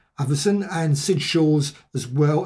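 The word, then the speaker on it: Avison: and you can see al averson that's how you say his name everson and sid shaw's as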